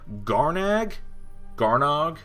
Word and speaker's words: Garnog: Garnog, because I remember that's the way they pronounced it in the story. Garnog, for an aggro deck that's looking to hedge against control and mid-range decks, Garnog is excellent.